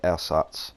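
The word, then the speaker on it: Ersatz: no threat so I take out the air SATs m10 but he's actually how you pronounce it by the way air SATs it's German a lot of people saying s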